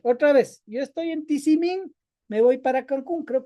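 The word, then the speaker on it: Tizimín: Entonces, nosotros estamos en Tisimín. Ya por fin me aprendí cómo se dice tisimín, porque antes decía tisim, algo así.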